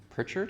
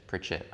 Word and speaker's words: Pritchett: It's called Pritchard or Pritchett? Pritchett. I pronounced it wrong.